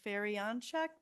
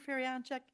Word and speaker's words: Feryanchek: Their attorney representing them is Feryanchek. Mr. Feryanchek, did I say it correctly? Yeah.